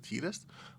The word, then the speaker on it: Tidus: We're back with our Final Fantasy commander deck profile with Titus Blitz Bull Star. Or if you want, you can pronounce it Tetus.